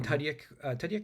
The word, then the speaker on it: Tudyk: Because Alan Tudyk, yeah, that's how you say his name.